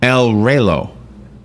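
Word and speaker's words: Reloj: It's El Relo.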